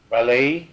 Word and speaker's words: Ballet: And Father Ballet took over in Father Lacombe. Bayou. Ballet? Mm-hmm. Is that how you pronounce it? Oh yeah, he used to come here all the time.